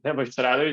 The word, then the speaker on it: Nebo Radovic: As you guys mentioned, my name is Nebo Radovic, or the real pronunciation is Nebo Radovic.